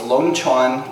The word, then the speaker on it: Long Chuan: If you look it up, it's spelled L-O-N-G. Sometimes they have C-H-U-A-N, or sometimes it's Q-U-A-N. So it's Long Chuan, like Dragon Well or Dragon Forge.